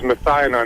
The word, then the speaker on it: methionine: Um, the the the one you're trying to pronounce is methionon.